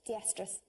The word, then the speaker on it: estrus: is not the iest are us and it's pronounced estrus you you have you had a recent period